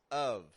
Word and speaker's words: of: bit of money and notice how the article a the a gets the exact same sound as of quite a bit they are pronounce the exact same they're both just getting a schah quite a bit of